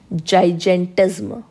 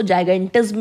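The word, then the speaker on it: gigantism: disorder is known as जाइज एट जम कई लोग इसको जाइगर जम भी प्रोनाउंस करते हैं दैट्ची जैसा करना है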